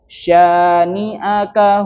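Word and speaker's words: شانئك: Nahaka dia hanya satu alif saja. Syaniaka hual abtar. Tidak dua. Jangan terkecah dengan ada hamzah di depannya. Syaniaka ngoten nggih.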